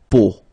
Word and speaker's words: peau: But then, so the sound that you will have to pronounce when you've got these three vowels combined together, it's the sound O.